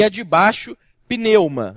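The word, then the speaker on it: πνεῦμα: e a de baixo, pneuma. A pneuma é mais fácil porque a gente chama aquilo que a gente enche de ar para rodar com o nosso carro de pneu.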